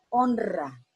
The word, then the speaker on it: honra: la poleras y ahora pero yo digo honra fuerte porque va precedida la consonante n por eso la regla me está indicando a mí yo debe pronunciarla como doble honra aunque no esté doble